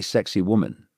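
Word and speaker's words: Sacsayhuamán: Do you know there's a place in um Peru just above Kusco and uh it's not spelled like this but it's pronounced apparently sexy woman or sexy woman.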